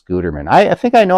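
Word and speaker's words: Guetterman: Lee Gutderman, not don't say Gutterman, it's Gutterman.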